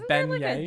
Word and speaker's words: beignet: planet earth but in parentheses it has a pronunciation that is ben yeah g in that word yeah it's like e